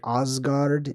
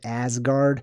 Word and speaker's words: Asgard: example number one Asgard Asgard probably more like ozguard instead of Asgard I just kind of